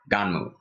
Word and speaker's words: Gunnm: little bit of explanation because it's spelled GU and M in English version but it's said in Japanese Donnell because they cannot end a word without having a vowel at after the end so I just felt